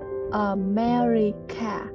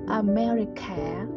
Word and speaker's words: America: I'm from America. Cái chữ America thì chữ C đọc thành chữ K nha, K H ẩn á. America, đừng có đọc là America, cái đó là sai nha. America.